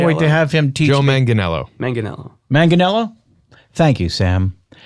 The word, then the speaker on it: Manganiello: and I can't wait to have him teo Manganiello Manganiello Manganiello thank you Sam I'll ask Cory